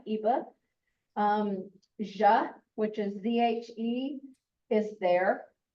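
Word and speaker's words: zhe: Ja, which is Z-H-E, is there.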